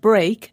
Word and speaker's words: break: speak spoke spoken and speak and break are pronounced differently although they both have e a k at the end they do now another